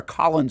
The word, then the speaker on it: Khalen: Recycled headlines of the day include the Jacksonville Jaguars making a trade for Colin Saunders. Spelled like Kalin Colin.